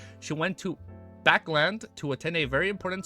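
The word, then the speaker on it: Backlund: twice okay hold up people told me backland backland backland and I know Buckland or Buckland is wrong badun badun factorial it's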